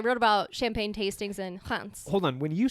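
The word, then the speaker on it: Reims: get to saying it it's almost like rents but like hunts okay that's how I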